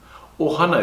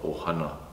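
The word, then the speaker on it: ʻOhana: and Stitch that's Ohana Ohana is spelled with that okina backward apostrophe glotto Mark in the front of the word Ohana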